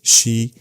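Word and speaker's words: 四: In Japanese tradition, the number 4, she, is considered unlucky because it's pronounced exactly like the word for death, she, and because of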